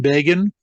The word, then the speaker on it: Begin: the election of Menachem Begin, and to make sure that their readers didn't mispronounce his name, they put in parentheses rhymes with Fagin.